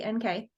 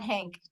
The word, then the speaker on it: Henk: That's EY, HENK. Those are Henk, not Hank, just so you know. Right. Henk like pink, but spelled with an E.